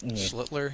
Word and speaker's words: Schlittler: Schlittler, yeah.